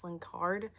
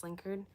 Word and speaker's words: Slinkard: Slinkard is actually supposed to be pronounced Slinkard, but everyone just says Slinker.